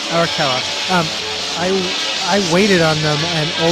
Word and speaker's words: Arakawa: It's not Arakawa, not Aragawa. Arakawa.